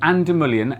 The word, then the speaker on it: An Dúlamán: hello i'm oscar because i'm no good at pronunciation and together we are the ginfluences uk the gym we're trying today is ander million santa ana armada strength gin oh there you